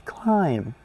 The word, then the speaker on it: climb: The B is silent. It's climb.